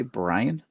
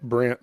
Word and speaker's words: Brent: And Did you just say Brian? Brent.